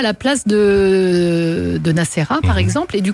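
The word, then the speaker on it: Nassera: Et prononce encore une dernière fois ton... Nacera.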